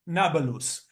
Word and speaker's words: Nablus: of Shechem to Neapolis, which the Arabs, without the ability to pronounce P, call it Nablus.